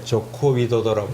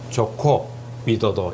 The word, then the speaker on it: 조코 위도도: 우리 이성애 씨가 조코 위도도라고 정확하게 발음을 하는. 근데 신문에서는 조코이 대통령이라고 많이 쓰더라고요. 정확하게는 조코 위도도 이렇게 됩니다.